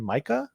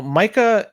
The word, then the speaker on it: MiCA: due to the markets in crypto assets regulation Micah I think is yeah we talked about M before on the show yeah and it's pronounced Micah right yeah y so these rules come into